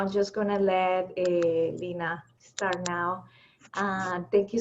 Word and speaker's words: Lena: am i was saying earlier my name is pronounced lynnae it's not a big deal it's just spelled